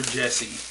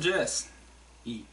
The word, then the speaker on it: Jesse: I'm not sure if it's Jess or Jesse. It's J-E-S-S-E. I want to pronounce it Jesse. It's probably actually Jess. I don't come across... about the only Jesse's I think I ever known was J-E-S-S-E, and he pronounced it Jesse, not Jess.